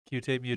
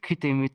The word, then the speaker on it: kute mute: Cute Mute? Yeah. Well, it's actually pronounced Kute Mute, Kute. which is Tokipona.